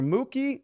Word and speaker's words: Mook: Mock, is it Mock or Mookie?